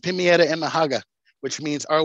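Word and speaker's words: Pemayetv Emahakv: And then Pimietta School, which is called the Brighton Charter School, it's pronounced Pimietta and Mahaga, which means our way of learning.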